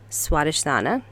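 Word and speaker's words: स्वाधिष्ठान: Forgive me for my pronunciation of this, but in Sanskrit, it is pronounced Swadhisthana.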